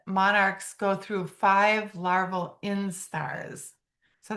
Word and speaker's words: instar: So, the egg hatches, becomes a caterpillar, and during that time, the the monarchs go through five laral instars. So, that word is spelled just like it sounds, I N S T A R instar.